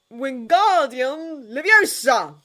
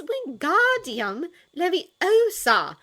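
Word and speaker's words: Wingardium Leviosa: like a windmill shy wi Guardian leosa you're saying it wrong Hermione snapped Harry winced again it's wi Guardian Lea make the go nice and long you do you're so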